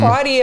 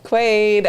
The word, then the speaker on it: Quaid: We have a $50 super chat from Quadio. No. Quaid. I know, but he knows that his name is Quadio. He knows that his name is Quaid. We were pronouncing it wrong.